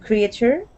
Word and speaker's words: creature: All right, so that A, we're not going to focus on that A. We're only going to focus on a long E sound.